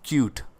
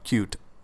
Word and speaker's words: Qt: So, QT is also I mean, we are pronounced as cute. Okay? So, that's what we uh we call cute.